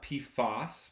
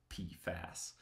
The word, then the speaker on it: PFAS: no puff us it's it's a weird acronym because you don't actually pronounce out the whole acronym its p fast there are a lot